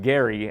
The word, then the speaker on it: Gerry: back in the 1800s it's a name is pronounced Gary Elbridge Gary and they he created some kind